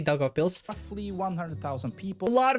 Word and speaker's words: Daugavpils: Daugavpils.